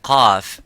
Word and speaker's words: qaf: So when we pronounce the qaf, we try to pronounce it audibly and as it is, qa, by opening slightly the lips vertically and making that sound and echoing by saying qa.